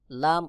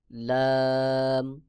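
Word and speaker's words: لام: calf calf তারপর রয়েছে লাম জিহ্বার আগার কিনারা সামনের উপরের দাঁতের মাড়ির সঙ্গে লাগাইয়া লাম উচ্চারণ হবে যেমন লাম লাম লাম এরপরে রয়েছে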